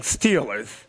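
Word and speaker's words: Steelers: They're pronounced stillers. Oh. Stillers. That's the Pittsburgher way of saying stealers, but we call them stillers.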